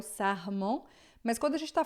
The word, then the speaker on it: sarment: Tout sarment, tá? Sarment, o R sempre som de dois R's e esse EN aqui sempre vai ser mais fechado do que em português.